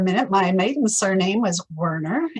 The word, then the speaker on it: Werner: mispronounced in california as warner because we didn't live that far from the warner brothers studios it should be pronounced more like vana in the german and the original german